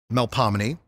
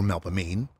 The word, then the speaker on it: Melpomene: Charles on the parade route, like Melpomene or Melpomene, Calliope or Calliope, or Terpsichore or Terpsichore, it's New Orleans. You can pronounce them any way you want.